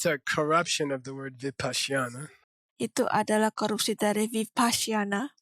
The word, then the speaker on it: Vipashyana: First of all, it's not pronounced Vipassana. Oke, pertama-tama tidak diucapkan Vipassana. That's a corruption of the word Vipassana.